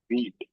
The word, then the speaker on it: Vite: उससे पहले मैं तुम लोगों को एक चीज बताऊंगा कि एक ना बीट, VITE, इसका स्पेलिंग जरूर VITE है, लेकिन इसको हम क्या बोलते हैं, बीट बोलते हैं।